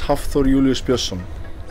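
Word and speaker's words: Hafþór Júlíus Björnsson: what it is but today I just can't pronounce it right th could you please sure my name is haor Julius Bon see how hard because you did you did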